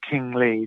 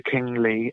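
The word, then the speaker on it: Qing Li: King Lee. That's King spelt with a Q, Q-I-N-G, Dr. King Lee, L-I.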